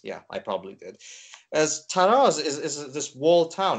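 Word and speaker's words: Talas: where everything is sort of rooted now as taras itself is is a wall town it's sort of um sorry taras actually did I say taras yeah I probably did as Tas is is this wall Town it kind of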